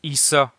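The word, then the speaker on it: عيسى: il y a d'abord Jésus qui se prononce Issa en arabe et contrairement aux chrétiens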